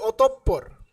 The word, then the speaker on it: অতঃপর: হয় আবারো বলছি শব্দের কোন বর্ণের আগে যদি বিসর্গ থাকে তাহলে সেই বর্ণটির উচ্চারণ কি হয় দীত্ব হয়ে যায় দ্বীত মানে কি মানে দুইবার উচ্চারিত হয় ঠিক আছে যেমন অতঃপর অতঃপর যে শব্দটি আছে